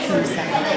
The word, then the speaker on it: Kumsa: How do you pronounce his name? Kumsa? Yuya. Kumsa, yes.